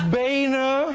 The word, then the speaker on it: Boehner: a new set and I learned how to pronounce your name bner all right it's the old Boehner pronouncer joke